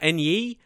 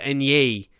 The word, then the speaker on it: Enyi: But here, Enyi, I believe that's how you say his name now.